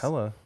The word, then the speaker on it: Helle: It's Helle Crafts. It's Hella.